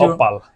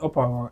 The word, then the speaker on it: Opal: I It's said, Opal. yeah, like the gemstone. Okay. Op Opal. It felt like OP, but not with the Y, with the L. Opal. Well, Opal. it is spelled that way, so Mm, all right. but it's Opal.